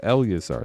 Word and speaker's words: Eleazar: Gonna get these put away, and then we have Eleazar up next. Or Elizar. I can't remember how to say it. Elizar? I think that's right. Eleazar. No, Eleazar. That's right. I remember.